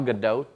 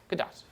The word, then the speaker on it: Gadot: pronounce the T softly, not a soft T.